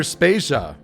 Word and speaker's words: Spasia: devayer and I'm spasia who are brought to you by Anonymous dinosaur and rhymes with Asia it's time to appreciate